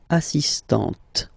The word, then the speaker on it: assistante: So don't pronounce the final T here, but for the feminine form, elle est assistante.